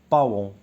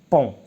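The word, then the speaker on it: paon: اغلبيه كنا كنطقوه باون هو الطاووس او بيان باون نو ما كنقولوش باون كنقولوا بون فون.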